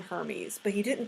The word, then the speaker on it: Hermes: with the last name Hermes but he didn't pronounce it Hermes it was spelled Hermes but he pronounced it like hair meds or something it was it was